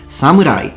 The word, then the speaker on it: samurai: Or should I say, just before people accuse me of not knowing how to pronounce Japanese, samurai. Okay, I've said it once the proper way in Japanese, now I'm just gonna say it in English. On this video, I will